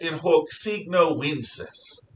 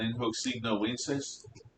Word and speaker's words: In hoc signo vinces: In hoc signo vinces. That's a V, but it sounds like a W.